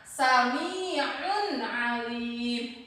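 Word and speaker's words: سَمِيعٌ عَلِيمٌ: Contoh yang lain, sami'un alim. Nah, di sini ada tanwin menghadapi huruf a, sami'un alim. Maka cara membacanya ini harus dibaca jelas.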